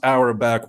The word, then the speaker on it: Auerbach: I hope it's pronounced Auerbach.